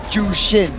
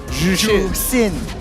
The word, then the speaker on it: Zhuxin: Okay, how do you pronounce ZHUXIN? Jushin. It's not Jushin. Jusin.